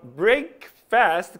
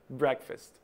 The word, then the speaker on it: breakfast: Então a palavra breakfast, que é o desjejum, ou seja, o café da manhã, é a sua pausa no jejum, o seu desjejum. Logo a pronúncia breakfast.